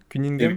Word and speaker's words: Cunningham: qui vient tout juste de sortir son manga, Kuningam, tu me dis si je me trompe sur la prononciation, c'est bien ça, Kuningam?